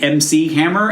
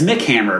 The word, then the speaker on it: MC Hammer: you see something that's maybe supposed to be MC Hammer and maybe you pronounce it as mickhammer because there's not any lowercase letters um so you just assume MC means it cannot MC uh which is a totally reasonable mistake to make and also a really